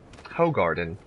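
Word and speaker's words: Hoegaarden: isn't that just fun to say ho garden it's to a don't pronounce two A's and in Belgium but that's okay I don't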